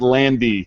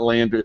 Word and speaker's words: Landy: it wrong again too ER Eric Landy not Landry I'm telling you the whole Landy to laundry thing just screwed everything up Eric Landy put gu14 J